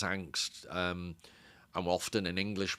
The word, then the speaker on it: Angst: I think in his native Danish it's Angust but in German it's angst.